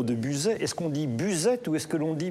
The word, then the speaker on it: Buzet: partie de ce territoire, prononcez toutes les lettres avec un E à la fin. Donc c'est du Buzette, c'est un marqueur territorial pour nous.